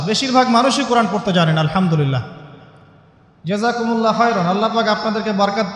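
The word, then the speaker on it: الحمد لله: এই হা এর মাখরাজ কোথায়? হা এর মাখরাজ কোথায় বলেন একজন? কণ্ঠনালীর মাঝখান থেকে। এখান থেকে আপনি উচ্চারণ করছেন আলহামদুলিল্লাহি রাব্বিল আলামিন। অর্থ দাঁড়াচ্ছে সমস্ত প্রশংসা জগৎসমূহের রব আল্লাহর জন্য। ঠিক আছে? কিন্তু আপনি এই হায়ে হুত্তির জায়গায় যদি হায়ে হাওয়াস পড়েন, যার মাখরাজ অন্য জায়গা থেকে, আপনি পড়ছেন ফর এক্সাম্পল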